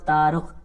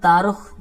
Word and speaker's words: تارخ: اب نام کے اندر بھی مختلف تلفظ ہیں اور مختلف انداز ہیں، لیکن ایک جو مشہور ہے وہ تارخ، تا را خا، ٹھیک ہے. تو یہاں پر تارخ جو سگے والے تھے